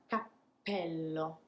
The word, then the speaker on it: cappello: one with two p's cappello so once more i'm pausing before the explosion happens and that is the hint to the italian ears that there is a double p now let's look at